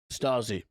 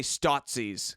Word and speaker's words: Stasi: on east germany 1950 the statsy is that how you say it stasi i say statsies because they're like nazis but stuff okay uh jazzy